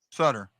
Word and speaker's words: Suter: Sutter. I can never tell with one T or two T's. You can always pronounce things any way you want, actually.